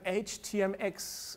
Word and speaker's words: htmx: so uh we have HTM X and uh it's officially pronounced h t m x so that is a